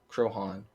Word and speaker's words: Croghan: Pronunciation Crohan.